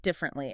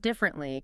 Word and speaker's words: differently: The word differently can be a little tricky. It looks like it has four syllables. Differently. But in natural spoken English, we usually squeeze it into three.